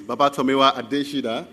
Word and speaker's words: Babatomiwa Adesida: My name is Babatomiwa Adesida. That's how we pronounce it where I'm from, and I'm happy to be here.